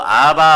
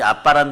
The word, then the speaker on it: 아바: 원래는 아람어로 아바 아버지인데 뭐 아바 발음이나 그 사람들이 좀 세게 발음하면 아빠가 되는데 드라비다족도 이 아빠란 단어를 동일하게 써요.